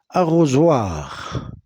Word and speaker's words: arrosoir: Arrosoir. S entre deux voyelles se prononce Z.